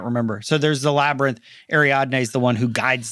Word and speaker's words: Ariadne: Ariadne. Which is interesting because that's named after the guide through the labyrinth back in Greek mythology, I think. I can't remember. So there's the labyrinth. Ariadne is the one who guides them through the labyrinth.